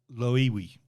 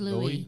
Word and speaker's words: Loewi: It's a dream from a guy named Otto Loewi. Is that his name? Is that right? I don't think you pronounced it. I thought it was Louis.